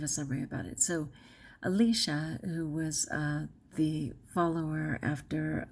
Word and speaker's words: Elisha: forgive me okay so he came to Elijah and it's pronounced Elisha but he came to